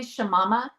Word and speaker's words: Shamama: she's also known as, do you say Shamama? Is that how you say it? Yeah. Yes. Yeah, that's I don't even remember how I started being called Shamama, but yeah, some people say Shamama.